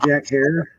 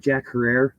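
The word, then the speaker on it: Jack Herer: If you pronounced it Jack Herrera, it's okay. I did too, and we were wrong. And it's pronounced hair like terror, so hence Jack Terror.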